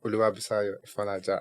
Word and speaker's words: Oluwabusayo Ifonlaja: Yeah, my name is Oluwabusayo, Ifonlaja, and I'm a legal practitioner.